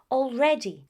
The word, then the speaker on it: already: In British English, when you find the letter A and L together, most of the times the pronunciation is that of all.